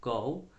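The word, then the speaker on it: 狗: Este carácter se pronuncia go, pero tiene en sí mismo el significado de perro.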